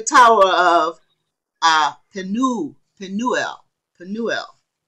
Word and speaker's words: Penuel: of uh canoe pinuel penuel it's a long u sound to nuelle um representative